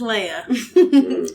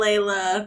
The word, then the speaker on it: Laya: to be introduced um my name is leia l-a-y-a leia not layla i like that okay